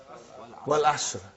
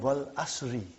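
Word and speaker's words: وَالْعَصْرِ: What is the first ayah? Wal Asr. Have you ever noted down what is written there? It's called Wal Asri.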